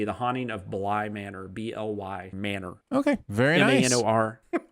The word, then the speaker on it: Bly Manor: The Haunting of Bly Manor, BLY Manor. Okay, very nice. MANOR. Not like manners. Not like Bly Manners. No, it's Bly Manor.